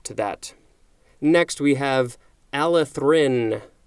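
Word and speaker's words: allethrin: that next we have Alice Rin I put a little extra emphasis on that our Alice Rin a ll e th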